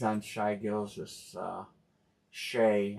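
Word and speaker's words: Shai: this uh Shay. I heard it pronounced Shay over the I was watching something. It was highlight show. They said Shay. So I've been pronouncing it wrong all these times.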